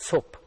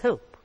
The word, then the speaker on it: soap: of our students say there is a glide from the first vowel to the other soap it's not soap it's soap hope right so we looked